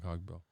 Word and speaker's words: Cogbill: Cogbell. Is that how you say it? Cogbell? Yeah, I think you're right. Yeah, Cogbill.